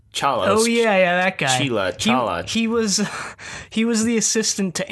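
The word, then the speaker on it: Chela: His name is like Chala or something, but the way the Doctor and Nyssa pronounce it, they pronounce it like Jailer.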